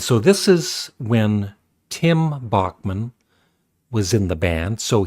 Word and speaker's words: Bachman: And as you can hear, Randy Bachman was, it's actually Bachman. I heard Burden Cummings say his name, and he said Bachman. I always used to say Bachman.